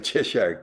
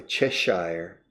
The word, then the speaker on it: Cheshire: To grin like a Cheshire cat. To grin like a Cheshire cat. Now the British could say Cheshire. The British say Yorkshire for Yorkshire. But I would say to grin like a Cheshire cat.